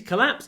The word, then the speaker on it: collapse: went down it collapsed try to make the at really short you collapse it's collap collap with a little pause before the P collap collapse collapsed collapsed